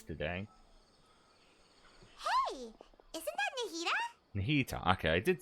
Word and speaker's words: Nahida: Nahida, okay, I did say it right.